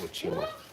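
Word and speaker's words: ótimo: So like if you if there's like a a straight if there's a vowel on both sides of a T, it's more like a ch sound in a t.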